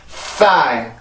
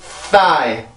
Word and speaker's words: thigh: thigh, thigh, thigh. 다시 한번. thigh, thigh, thigh. 한 번 더. thigh, thigh, thigh. 네, 그래서 이 단어는 그렇게 발음을 해주죠. 절대 따이나 싸이 이런 게 아니에요. 반드시 thigh 이렇게 읽어주시면 되겠습니다.